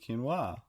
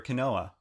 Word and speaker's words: quinoa: burger it's made with quinoa mmm which I actually failed to pronounce the first time actually when shopping for it I asked for a Kanoa well dog because that's what it looks like yeah and I